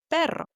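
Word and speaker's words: perro: Number three, the double R sound is going to sound like for example the word pero which means dock. And onto the retto of the day pronouncing the trilled R there.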